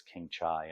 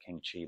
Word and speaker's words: King Chai: this King Chai, and I believe it's King Chai. I know a lot of people say King Chi, but I believe the correct pronunciation is King Chai.